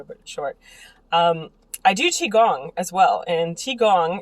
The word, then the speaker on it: qigong: I do Qigong as well. And Qigong, it's spelled with a Q, T-I space G-O-N-G.